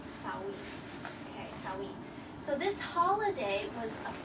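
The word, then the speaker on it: Samhain: s a m h i n but it's pronounced sa okay sawi so this holiday was a festival okay a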